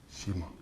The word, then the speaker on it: Shima: his childhood friend tetsuo shima can i say it's just it's just pronounced um canada and shima on one of those